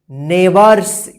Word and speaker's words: neighbours: Both where नेबर्स, NEIGHBOURS, नेबर्स। देखिए यहाँ पे GH जो है ना साइलेंट है। ठीक है, नेबर्स ध्यान रखिएगा।